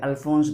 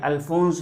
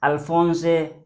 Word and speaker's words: Alphonse: Looking at the spelling, you may think it is Alphonse Daudet. That is how many people pronounce, but that's not the case. Firstly, in the first word, the last letter is E. This is silent.